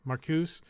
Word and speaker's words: Marcuse: yeah um unfortunately uh Theo Marcus I think that's how you say it it's m a r c u e maruse marcuse uh died in a